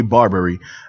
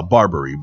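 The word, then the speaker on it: Barbiere: on here uh It Is by Frank J Barberry and uh uh Barberry b a r b i e r e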